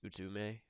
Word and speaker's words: Utsume: I have that's a hard ass pronunciation. It's like it's Utsume. It's her name.